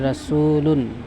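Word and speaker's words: رَسُولٌ: রাসূল, রাসূলের উচ্চারণ হবে রাসূলুন, রাসূলুন, এর অর্থ রাসূল বা বার্তাবাহক, যিনি বার্তা নিয়ে আসেন। তাহলে দুই শব্দ মিলে কি হবে? মুহাম্মদ রাসূলুন, মুহাম্মাদুন রাসূলুন, মুহাম্মদ রাসূল বা বার্তাবাহক, মুহাম্মদ রাসূল বা বার্তাবাহক।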